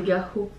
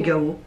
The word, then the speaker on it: Gaho: En vrai, on prononce très mal son nom. Oui, je sais pas comment. C'est Gao. Gao. Parce qu'il y a un H. Ouais, c'est vrai. Bah, c'est Gao.